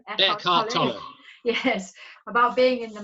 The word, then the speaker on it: Eckhart Tolle: Eckhart Tolle.